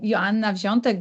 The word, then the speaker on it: Joanna Wziątek: So I'm Joanna Wziątek. This is the correct pronunciation of my name in Polish, and my official position is Senior Sales Engineer.